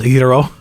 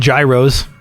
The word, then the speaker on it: gyro: or or yo I'm not sure you actually pronounced hero Americans call him Gyros but the the lamb